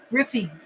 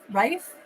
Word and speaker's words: Rife: that oh right yes oh they say your name wrong riffy you're all very smart oh because did I say it right it's Rife looks like rice Cal Central London there's